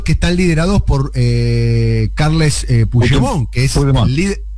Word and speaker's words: Puigdemont: Que son los que están liderados por Carles Puigdemont, que es el líder. Lo pronuncié mal, ¿no? ¿Cómo se pronuncia? No, Puigdemont, no, perfecto.